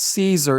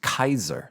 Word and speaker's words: Caesar: Italian cardinal and historian Kaiser, not Caesar. It's not pronounced Caesar, it's pronounced Kaiser, like Kaiser Wilhelm, even though it's Caesar. It's Kaiser.